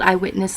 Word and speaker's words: I, Witness: Now, it's not spelled eyewitness like, the eyewitness to this crime saw this and this and this. No, it is spelled capital I, comma, witness. Eyewitness.